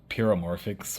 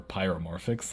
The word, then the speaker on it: Pyramorphix: one is called the peramorphic or pyramorphix I've heard it pronounced both ways and then the one